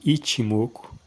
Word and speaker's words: Ichimoku: ele é não não é pronunciado ichimoku é pronunciado ichimoku que é mais ou menos a forma aproximada